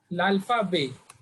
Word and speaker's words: l'alphabet: T is silent here. L'alphabet.